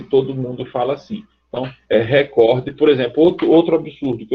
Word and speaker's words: recorde: Por isso, a palavra recorde seria um absurdo em português. Porque se você trocar o D final por um T, você coloca o acento no canto certo, recorte.